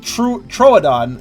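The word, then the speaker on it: Troodon: has to be complicated even true troadon is has an extra syllable that you wouldn't think it has hi again you're awfully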